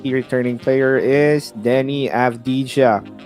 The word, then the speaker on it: Avdija: And their last key returning player is Denny Avdija, or Avdia as they pronounce it.